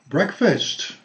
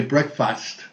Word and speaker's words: breakfast: of coma okay Woman breakfast we don't say breakfast we say breakfast with a sha Christmas Texas plural consonant